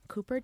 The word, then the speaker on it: Kuper: cooper. my middle name is spelled like super with a K I like just spell differently with a K it's just K so is olivia.